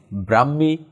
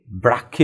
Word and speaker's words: ব্রাহ্মী: প্রাচীন লিপি থেকে বাংলা লিপির উদ্ভব হয়েছে প্রাচীন ব্রাহ্মি বা আমরা কি বলি ব্রাক্ষী লিপি থেকে আসলে উচ্চারণটা মানে শব্দটা মনে হয় এখানে ভুল হয়েছে